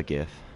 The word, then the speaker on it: GIF: You know how you would pronounce strife? It's Jife. Strife is with an E at the end, though. Yes. I just prefer GIF.